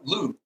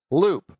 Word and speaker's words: Loupe: It's Loop. It's spelled like Coupe de Ville, just with an L. Loop.